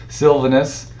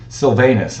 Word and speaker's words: Silvanus: The second dimension of the intentional influence process that Paul Silvanus Silvanus, I believe is how you say that.